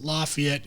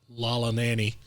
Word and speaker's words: Lafayette: that time and uh we know that how to pronounce lafayette indiana and it's not lala nanny uh it's the monkey